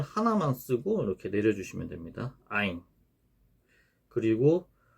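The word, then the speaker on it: عين: 요 아인 같은 경우는 요 아인도 우리나라에서는 사용하지 않는 발음입니다. 이게 인도 소리라 그래가지고 이게 목구멍 소리입니다. 목구멍. 아인, 아인 이런 식으로 내는 거죠. 목구멍에서 나는 소리. 아인, 아인. 네, 이렇게 나는 소리입니다.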